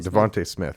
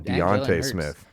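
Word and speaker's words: DeVonta Smith: uh what's his name I always get his name wrong Devonte Smith I always want to call him Deonte Smith yep I saw like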